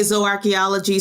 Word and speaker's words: zooarchaeology: so there are several different pronunciations. Okay. I say zooarchaeology. Some people say zoo. It really depends on who trained you.